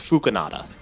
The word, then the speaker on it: Phookinada: know how to say the channel's name, it's Phookinada.